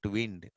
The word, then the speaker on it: wind: Not wind. Not wind. The first one you have to read as wind rhymes with pinned. Wind, pinned. Forgot to wind my watch. Wind rhymes with find.